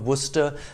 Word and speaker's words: Worcester: worcestershire sauce a condiment from the town of worcester that is now available all over the world